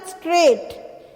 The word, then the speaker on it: straight: तो स्ट्रेट, तो यहाँ पे GH जो है वो क्या है, साइलेंट है और बोलते क्या है, स्ट्रेट, STRAIT, स्ट्रेट, है ना।